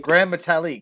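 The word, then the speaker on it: Gran Metalik: Grand Metalik.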